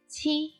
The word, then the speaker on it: qi: Qi is an aspirated sound. Qi, qi. When you say qi, use the tip of your tongue to press the upper gum, allowing air to pass through the back of your tongue and burst into sound.